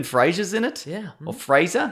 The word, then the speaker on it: Fraser: in it yeah Oh Fraser how do you say razor it's Fraser it's not Niles uh anyway okay if